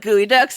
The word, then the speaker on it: geoduck: Do y'all know what gooey ducks are? What? Okay, you know what? I'm not... It's spelled Geoduck.